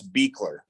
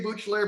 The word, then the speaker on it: Buechler: your last name joe it's beakler okay i was going to say butchler but i knew i was going to be wrong so be clear uh